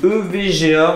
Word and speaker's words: EVGA: Alors, j'ai pris une 3060 Ti EVGA, on prononce à la française.